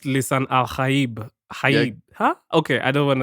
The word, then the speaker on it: Lisan al-Gaib: Actually, it's supposed to be pronounced Lisan Al-Gaib. Huh? Okay, I don't want to. Let me not butcher it. But in the movie, they say Lisan Al-Gaib, which is like the American way of like.